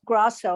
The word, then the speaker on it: Grasso: and and uh henry my last name is pronounced grosso i've been wanting to say this for months now so can we just say grosso instead of the new jersey pronunciation sure sure thank you